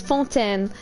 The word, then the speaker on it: Fontaine: chat says font fontaine because it's a french word guys because uh fontaine is actually the city in ma and into that that represent france france and how you pronounce it is fonten and it's france that's